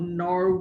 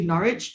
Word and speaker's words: Norwich: word here is not norch which a lot of people are doing so um but it is actually Norwich uh there's no W in that pronunciation so it's NCH um